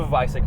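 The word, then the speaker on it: Weissach: you can actually option the vice ik package it's spelled with a W yeah cuz it's German double use ravines and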